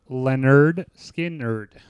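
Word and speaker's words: Lynyrd Skynyrd: got Leonard skinnard and we're going to do pronounced Leonard skard like that's the album huh that's title of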